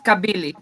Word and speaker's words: Kabili: name so you have it's pronounced kabili okay however kabili in greek means curve and whenever i meet